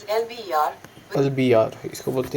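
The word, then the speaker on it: El Biar: Okay, अब इसको pronunciation अगर हम करें तो The pronunciation of Elbia, a suburb of Algiers, is Elbiyar.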